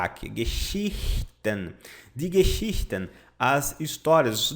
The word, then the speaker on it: Geschichten: Isso aqui é a pronúncia. Geschichten. Mais ou menos assim, tá? Usando o nosso guia brasileirado. Geschichten. Geschichten. Vou colocar esse CH aqui, ele é mais suavizado, tá?